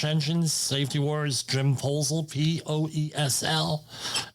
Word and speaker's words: Poesl: Safety Wars, Jim Poesl, Poesl. Not the other way, please. Easy to remember, all right? Poesl, but how do you say it? My favorite word is proposal.